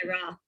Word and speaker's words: Sara: Some people pronounce it Sarah or Sara, but it's spelt the same as me. So I think it's Sara. Sara Elizabeth. Hey, hi. Hi, is it Sara or Sarah? It's Sarah.